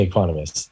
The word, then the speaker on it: equanimous: balanced now full disclosure I've been butchering this word since before I knew you if you say it correctly I've always been saying equanimous yeah no it's definitely Economist yeah and you can